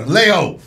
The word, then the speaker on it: Vallejo: Vallejo.